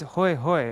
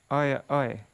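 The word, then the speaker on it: হয়: The words hoi hoi of Gaudadesh are mistakenly pronounced oi oi by the residents of Sri Hatta.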